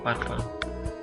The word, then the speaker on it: parfum: dalam bahasa Indonesia sebenarnya dalam bahasa Prancis itu bacanya bukan parfum ya tapi parfa kemudian juga ini Louis